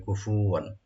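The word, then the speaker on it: كُفُوًا: কুফুওয়ান, কুফুওয়ান এখানে খেয়াল রাখবেন ফাতে যেন বেশি টান না পড়ে। কুফুওয়ান, অনেকে আমরা পড়ি কুফুওয়ান, এরকম না, কুফুওয়ান।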